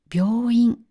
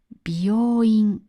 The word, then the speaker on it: 病院: ところで皆さん病院の発音には気をつけてください。病院を美容院と言うと美容院に聞こえてしまいます。